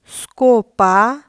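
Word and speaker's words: scopa: স্কার্পে যার অর্থ জুতা তারপর এসএ ও স্কো স্কো দিয়ে একটি শব্দ স্কোপা কোপা অর্থ ঝাড়ু তারপর এস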